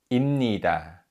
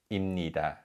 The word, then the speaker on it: 입니다: Now, although these verb endings begin with a syllable that has a 비읍 받침, the 비읍 받침 is read as 미음. So it's not 입니다 as it was for 입, which we learned earlier, but it's 입니다, 입니다.